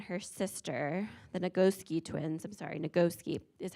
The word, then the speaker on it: Nagoski: Because Emily Nagoski and her sister, the Nagoski twins, Nagoski is how you pronounce it.